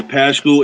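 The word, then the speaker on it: Paschall: Yeah, Paschal, and then they got Rudy Gay, which I like.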